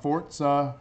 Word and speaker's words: Forza: There's no T in there, buddy. That is how the guy pronounced it, though. Technically. Well, he's wrong, and he's creating his game incorrectly. No, that's actually how it's pronounced. It's not English.